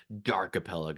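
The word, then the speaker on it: D'Archipelago: but it's like you just say you say archipelago but then the D in front of it so dark aelo Darko look it wouldn't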